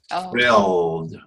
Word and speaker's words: frilled: Frilled. Free. Free. Filled. Your tongue has to touch your front teeth. It has to. Yeah. Frilled. Freered. Yeah, you see, you're getting to the LD, but you're pronouncing it